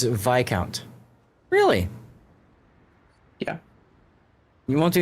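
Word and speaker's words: viscount: The S is silent because the word comes from old French and Latin roots like vicem where the S sound dropped out over time.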